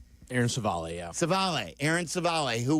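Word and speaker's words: Civale: Is that how you say it, Savale? Aaron Savale, yeah.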